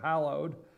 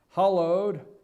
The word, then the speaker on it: hallowed: uh they made it they laughed because he pronounced it with an ho him and Rudy giulian instead of saying hallowed hollowed Hall h hollowed ground